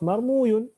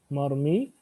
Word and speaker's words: مرمي: رمى يرمي مفعول is on the wazn of مرموي. But that is not how things happen. Rather, this wow is also converted into a ya, just to help us يعني pronounce it. So we'll say مرمي.